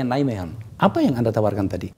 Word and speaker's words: Nijmegen: di Belanda deenay Hai nijmegen tulisannya V bacanya nilai mean apa yang Anda tawarkan